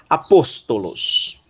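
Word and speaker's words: ἀπόστολος: Sílaba tônica, pos. Aí nós temos um tal e um ômicron, to. Aposto. E a última sílaba, lambda, ômicron, sigma, los. Apóstolos.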